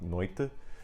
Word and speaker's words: noite: noche, whereas I have in Portuguese noite, which that's just Brazilian pronunciation actually, and in Portugal I think it would be something like noite.